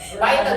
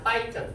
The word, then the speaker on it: Python: Nah, bahkan untuk tahun kemarin bahasa yang paling banyak digunakan di dunia itu ini Python, Java, Python memang betul cara pengucapannya Python. Bukan Python.